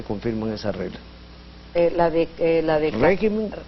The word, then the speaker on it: régimen: Régimen, que al volverse plural se convierte en regímenes, y carácter, que al irse al plural se vuelve caracteres.